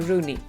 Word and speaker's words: Rooney: wiemy że na przykład Wayne Rooney wymawia się właśnie Rooney tylko że po polsku